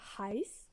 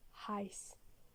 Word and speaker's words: heiß: It's like a normal S. For example, heiß, which means hot.